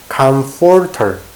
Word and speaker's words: comforter: 발음이 아음 발음이 된다면은 하지만 이거를 제대로 발음 하려면은 입이 붙으면 안 돼요 입이 붙으면 안 됩니다 떨어져 있어야 돼요이 윗입술과 아랫입술은 떨어져 있어야 됩니다 comforter comforter comforter 잘 했고요